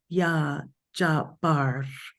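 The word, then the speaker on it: Ya Jabbar: is yah J Bar and there's a little roll of the r j and there's emphasis on the B sound it's spelled j a BB it's a double b a r and the emphasis is on the bar little r Rolling Y okay the emphasis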